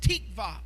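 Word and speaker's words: תקווה: One of the Old Testament words for hope is a Hebrew word that is pronounced tikva.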